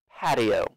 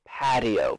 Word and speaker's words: patio: Patio. Uh, so my pronunciation of this word is a little different because of my accent. Um, I say this T as a D sound. Patio.